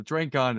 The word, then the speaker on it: Drinkhahn: So Drinkhahn is right.